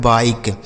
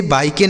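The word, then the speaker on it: bike: लिखा है बाइक। इसे बाइके नहीं पढ़ना है। बाइक।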